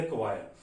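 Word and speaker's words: choir: अब कवायर वर्ड हमारे पास क्या है, लिखने में जो ए वर्ड है उसको लिखने में हम चोर बोलते हैं, मगर जो इसकी प्रोनाउंसिएशन है दैट इज ए कवायर।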